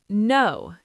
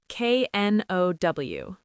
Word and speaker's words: know: No. K-N-O-W. No, not kno.